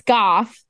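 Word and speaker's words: Goethe: Well, so Goth in Chinese, Japanese, and Korean is spelled G-O-E-T-H-E. Yeah. But it's Goth.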